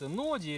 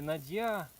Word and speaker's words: нодья: многие спорят, нодья или надья. Какая разница? Все равно слово тупое. Ударение как бы появляется разное. Ну вообще, Надья. Это все равно, что кафе. Кофе он мой, оно мое. Да не все равно слово какое-то глупое. Ну это финское. Финское, Надия.